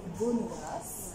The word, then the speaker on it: Bonnegrace: Là, je vais vous présenter Erika Bonneras. Voilà. Bien prononcé.